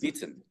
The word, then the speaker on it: bitten: But then if we see a double consonant before the E, then it is not pronounced as I. The letter I becomes E, such as bitten or kitten.